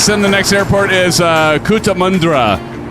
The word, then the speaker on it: Cootamundra: Big Al says, send the next airport is Cootamundra. Pronounced Cootamundra. I almost had it.